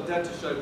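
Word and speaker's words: détaché: That's called a detaché bow stroke. Just some fancy name. I think it's German. Right? So it's called detaché. Even though it's spelled detached, it doesn't make a whole lot of sense.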